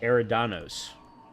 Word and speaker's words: Eridanos: Okay, apparently it's Eridanos, according to the way that Ada just pronounced it.